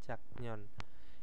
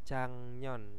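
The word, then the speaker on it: 작년: ada jangon nah nah tulisannya kan Jak non ya tapi jangan dibaca jaknyon Ini bacanya jangnyon Ya jadi gioknya di sini E menjadi ieng karena apa di sini ada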